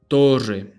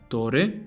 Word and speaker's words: torre: The double R has a few different pronunciations depending on the country and even the region, really. To play it safe, however, just roll a longer R than usual. Instead of torre, it will be torre, torre, rrr, torre.